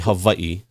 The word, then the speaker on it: Hawaii: yeah you said it right so it's actually Havi so in Hawaii in Hawaiian language we see our W's are V so you actually said it right the first Havi yeah Havi that's how we say it in